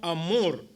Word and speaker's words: Hamor: También se le conoce como Amor. Esto es Hamor, es con H al principio. La H muda, son Amor.